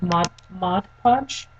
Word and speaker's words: Mod Podge: And what you can also do, what my friend said that she did to her heels, is she did Mod Podge.